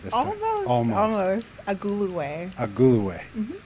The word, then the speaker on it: Agulue: And Amaka Agulue, which I believe I pronounced correctly this time. Almost. Agulue.